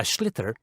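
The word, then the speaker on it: sliotar: this ball called a schlitter that's s-l-i-o-t-a-r so it's not spelled the way it's pronounced you his ears into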